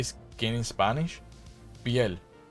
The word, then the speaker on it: piel: Piel, like Piel. So it's like pie, but then you add an L to the to the end.